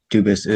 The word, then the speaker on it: Dubas: Dubus is the English pronunciation. Dubus is the original French.